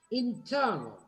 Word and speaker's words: internal: And then you said internal, lo mismo, internal. Toda la última presión de esa palabra está en la nasal, en N.